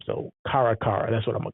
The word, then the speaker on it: Caracara: that caracara akarakara I I'm gonna say karakara because it's spelled like um Irene Cara's name so karakara that's what I'm gonna